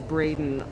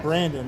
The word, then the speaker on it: Braden: And, and Lois said she wants you to know that his name is Braden, like Braden. Maybe we mispronounced Maybe it. I've been calling him Brandon.